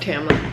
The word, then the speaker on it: Tamlin: Okay, yeah, it's pronounced Tamlin.